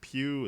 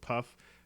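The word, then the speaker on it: Pugh: how to pronounce that is it Pew is it puff who knows pug uh I think the uh p is pronounced like a k no yeah so Florence Smith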